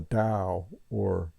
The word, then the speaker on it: Tao: on uh dosm the da or it's spelled Tao but it's pronounced Dao one of my belief